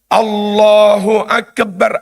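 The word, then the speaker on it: الله أكبر: Allahu Akbar. Bagaimana dengan "akep"? Tawalud (menambahkan suara tambahan) tidak diperbolehkan. Akbar. Akbar. Jangan dibaca sebagai "akbar". Terlalu santai.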